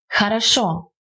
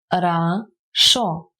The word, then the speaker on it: хорошо: The simple answer is, if the O isn't stressed, it pronounces as A, and if it is stressed, it remains as O.